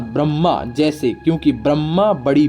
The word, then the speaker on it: ब्रह्मा: का नाम देते हैं ब्रह्मा शब्द का उच्चारण बड़ी मां अर्थात ब र मा अर्थात ब्रह्मा जैसे क्योंकि ब्रह्मा बड़ी